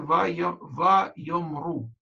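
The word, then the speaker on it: ויאמרו: Если бы не она, слово читалось бы «вайомер» и «сказал», а с буквой «вав» с этой гласовкой читается «вайомру» и «сказали».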